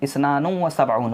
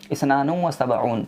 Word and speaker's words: اثنان وسبعون: को हम बोलते हैं उर्दू में 72, उसका प्रोनाउंसिएशन भी होता है 72। लेकिन जो अरबिक नंबर में हम उसको पढ़ेंगे तो इसनानुम व सबऊन होता है दोस्तों।